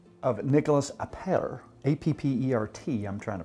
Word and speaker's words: Appert: A fellow by the name of Nicholas Appert, A-P-P-E-R-T, I'm trying to pronounce it like my buddy wow.